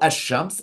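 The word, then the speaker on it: الشمس: And if you were writing phonetically, you would spell Ash-Shams, Alif, Sheen, Mim, Sin. But when you're educated, you're able to identify that's the article, and there you write Alif, Lam, even though you don't pronounce the Lam.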